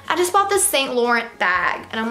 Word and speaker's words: Saint Laurent: I just bought this Saint Laurent bag. And I'm like, honey, it's not even how you say it, it's Saint Laurent.